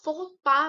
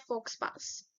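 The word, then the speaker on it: faux pas: इसको फोपा प्रोनाउंस किया जाता है। नॉट फोक्सपास।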